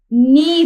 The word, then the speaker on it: knee: इसी तरह हमारे पास यहाँ देखिए KNEE, नी रीड होगा, के यहाँ पर हो जाएगा क्या, साइलेंट लेटर हो जाएगा।